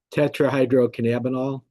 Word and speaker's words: Tetrahydrocannabinol: And I don't, how do you pronounce that, Stuart? You're much better at it than I am. Tetrahydrocannabinol.